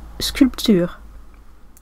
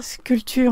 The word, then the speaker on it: sculpture: C'est le P qu'on prononce pas? Sculpture en français, ouais.